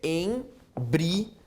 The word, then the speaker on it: embriagado: Em que, meus amigos, olha aqui a presença de um hiato, pois a pronúncia do I é tão forte quanto a do A. Embriagado. O som do A não mata o som do I, como eu tenho em bactéria.